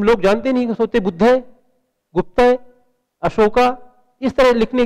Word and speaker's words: गुप्त: है गुप्त लेकिन क्योंकि स्पेलिंग में जी यू पी टी ए गुप्ता उसको गुप्ता लोग जानते हैं।